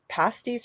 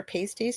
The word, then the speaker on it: pasties: Cornish miners and later those in the American West would leave bits of food like crusts of their pasties or pasties, depending how you say it, and in brackets